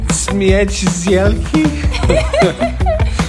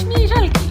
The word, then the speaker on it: Śmiej Żelki: SSSMMMiejjjfff syelllfffkiii Almost, it's Śmiej Żelki That's what I said.